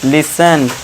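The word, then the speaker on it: listen: अब देखिए टी टी के बाद इ एन आ गया तो यहां टी साइलेंट। इसे क्या पढ़ेंगे? लिसन।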